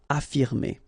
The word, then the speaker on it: affirmer: Okay, even if we've got two F, well, only one should be pronounced, so affirmer.